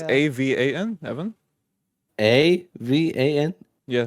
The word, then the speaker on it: Avan: Avan. Evan. Avan? Yes. It's Avon.